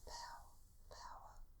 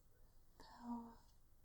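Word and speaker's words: paua: And we'll start off with this beautiful power shell tray. It's spelled P-A-U-A, so I think that's how you pronounce it, power.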